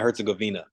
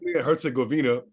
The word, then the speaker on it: Herzegovina: say the second part of that Bosnia and Herzegovina ah all right learn something new Herzegovina uh in international competition how before we get